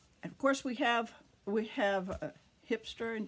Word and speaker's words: Grijpstra: And of course we have Grijpstra and De Gier. G's are pronounced H in Dutch, and I'm trying to